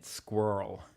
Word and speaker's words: squirrel: It's only one syllable. It's one syllable in North American. squirrel.